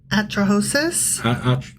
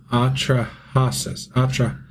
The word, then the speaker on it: Atrahasis: Rhymes with Mudra? Zeusudra. Zeusudra. Yeah. Anyway, next one. Atrahasis. Atrahosis? Atrahasis.